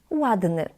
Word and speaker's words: ładny: So, this is something that you can do, that you can differentiate when you speak by just keeping your jaw very loose when saying Y. Ładny, ładny.